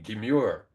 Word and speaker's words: demure: On the other hand, when we get down to 18, demure, the E is long, all right? Don't emphasize it too much, but it's a long E.